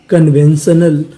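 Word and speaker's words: conventional: हमारा अगला कोड है सी ओ एन सी यू एन को पढ़ते हैं कन यानी आपको कहीं पर सी यू एन लिखा मिले तो इसे क्या पढ़ना है कन तो मीनिंग क्या बनी कन वी इ एन वेन कन when T आई यू एन आपको पता है कि इसे पढ़ना है शन और आखिरी में लिखा है ए एल इसे पढ़ते हैं अल तो मीनिंग क्या बनी कन कन्वेन श नल कन्वेंशनल कन्वेंशनल कन्वेंशनल का मतलब होता है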